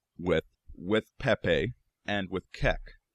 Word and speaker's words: Kek: somebody noticed something that kek was the name of an ancient Egyptian deity a froge headed one also worth noting it can also be pronounced cuck another coincidence and allegedly